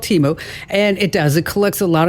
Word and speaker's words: Temu: It's pronounced Temu, by the way. Oh, okay. That's all right. It's called Temu, and it collects a lot of information.